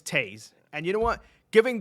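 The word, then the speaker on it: Toews: Rest assured, it may be spelled like Toes, but it's Taze.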